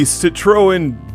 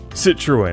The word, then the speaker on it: Citroën: It's the Citroën DS. Citroën. It's a French car, and everybody always says I pronounce it wrong.